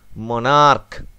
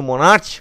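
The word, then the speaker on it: monarch: heart take only S মনার্ক যখন আচ্ছা এটা ভালো করে বলি তাহলে বুঝতে পারবে মনার্ক এটা কিন্তু মনার্চ উচ্চারণ নয় তখন হয়ে যাচ্ছে মনার্ক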